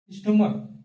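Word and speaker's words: stomach: अब देखिए एग्जांपल के लिए स्टमक स्टमक मतलब होता है पेट ठीक इसका प्लुरल क्या होगा स्टमक ठीक क्या होगा स्टमक होगा ध्यान से देखिए मैंने इसमें सीए का उच्चारण किससे हो रहा था क से हो रहा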